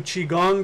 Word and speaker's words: Qigong: spiritual ability is which is this go to chi-gong dots under wizard Kong excuse me Qi Gong